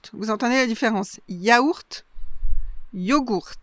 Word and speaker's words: yogourt: Mais vous pouvez aussi rencontrer yogourt, yogourt, yogourt. Vous entendez la différence? Yaourt, yogourt. Donc là on prononce le G. Et puis on commence avec un O, yo, et pas avec un ya.